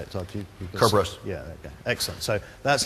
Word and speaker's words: Kerberos: matter we also we also say I'll say Kerberos how will you say it so if you cover us yeah excellent so that's how you pronounce it as opposed to yeah the alternative